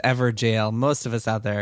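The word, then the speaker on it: Evergaol: I thought it was Evergal, but ever jail makes it sound like it's spelled ever jail.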